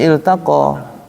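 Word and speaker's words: التقى: bacanya kita Gimana bacanya Kalau kalimat Yaum kita tutup Gimana bacanya alq altaqo apa gimana bacanyataqo ya iltaq ya bacanya iltaqo bacanya iltaqo Jadi kalau dilanjutin yaumaltaqo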